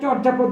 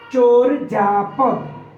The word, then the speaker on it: চর্যাপদ: আমরা বলি চর্যাপদ এটা চর্যাপদ যদি আমরা বলে থাকি বানানের মত করে সেটার ভুল উচ্চারণ হবে প্রমিত উচ্চারণ হলো চরজাপদ প্রমিত বা শুদ্ধ উচ্চারণ